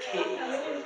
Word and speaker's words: ki: But the ki and the qi, same thing, has different pronunciations in different countries.